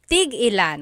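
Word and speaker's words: tig-ilan: So tigilan when there's a hyphen in it you have to have that glottle stop that means how many of each when there's no hyphen it's just one word that means to stop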